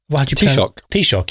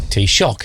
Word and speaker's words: Taoiseach: But I think reflecting on what the forgive my pronunciation. Taoiseach, yeah. I was thinking Taoiseach.